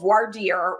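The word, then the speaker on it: voir dire: there is a process called varder or vard some people choose to not do the French pronunciation where lawyers are allowed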